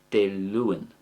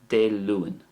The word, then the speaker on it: Dé Luain: And I'm trying to soften the A by pronouncing it the following way. De Luan.